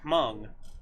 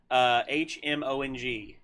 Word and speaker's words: Hmong: His mother is Hmong, which is an ethnic tribe from Vietnam who actually fought on our side, and we brought a lot of them over whenever we evacuated. HMONG, Hmong.